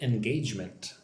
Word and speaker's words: engagement: So 22, I track engagement. Look at the word engagement. Engagement. 3 syllables. Make sure you get the j sound. Engage. Engagement.